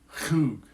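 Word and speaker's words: חוג: Whenever they have an H and a little dot under it, it's like a CH sound, like chug, chug. Even though it's spelled H-U-G, you think it's hug, but it's chug.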